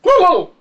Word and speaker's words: Cthulhu: Yeah, that's science fiction, and that's and of course we who know him personally know that his name is not easily pronounced in English. The best equivalent is Cthulhu.